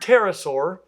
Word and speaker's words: pterosaur: Now, interestingly enough, in Greek, where that comes from, the P wasn't silent. So if you really want to go back to the source language, it probably should be pterosaur, but you again will be viewed as a powacko if you call them that.